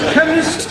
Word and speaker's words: chemist: Chemist does not begin with a K. It sounds like it begins with K, C-H. but that is making it chemist. No, the CH is pronounced K.